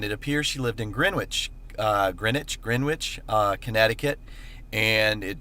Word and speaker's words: Greenwich: on my staff that the correct pronunciation is greenwich not green witch even though it's spelled green witch so we now know it is greenwich and that's where i